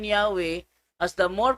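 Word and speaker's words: Yahweh: february 9 1950 iingon while inclining to view the pronunciation yahwe as the more correct way we have retained the form jehovah because of people's familiarity with it since the 14th century mong gibasa ng bersiculo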